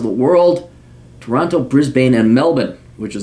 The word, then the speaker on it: Melbourne: different parts of the world Toronto Brisbane and Melbourne which is not pronounced Melbourne it's pronounced Melbourne once again cuz I'm internationally cultured my parents